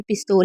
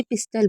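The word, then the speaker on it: pistol: हैं उसके बाद है पिस्तौल बोलते हैं और सोचते हैं कि इंग्लिश में भी पिस्तौल ही बोलते होंगे नहीं इंग्लिश में इसे पिस्टल बोलते हैं और अगर आप हिंदी में बोल रहे हैं तो आप इसे पिस्तौल बोल सकते हैं तो आप इसे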